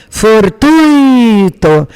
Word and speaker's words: fortuito: O correto é gratuito, fortuito, intuito.